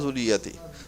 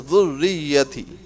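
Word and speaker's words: ذريتي: This is not zurriyati. This is dhurriyyati.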